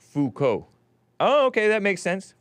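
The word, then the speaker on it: Foucault: GMD Jim says terrible GMD Jim says Hey Falt is pronounced Fuko oh okay that makes sense Fuko boring topic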